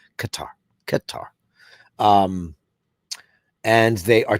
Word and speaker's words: Qatar: It's she goes, no, it's Qatar, Qatar."